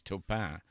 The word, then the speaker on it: Taupin: the stage and used the correct term French pronunciation of my name which is toppa and you know as